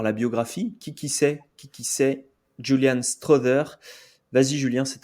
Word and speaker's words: Strawther: Julian Strother, né le 18 avril 2002, on dit bien Strother, si vous voulez prononcer correctement.